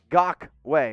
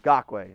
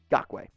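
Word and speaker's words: Kwiatkoski: best e according to pff jt douglas in gok way unfortunately that's not how you pronounce it so you'll see not gok i know you keep saying that but he literally said in an interview it's gawkway i mean it's i've talked to i've talked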